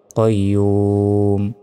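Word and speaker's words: قيوم: থামলে উচ্চারণটা হবে কয়্যুম।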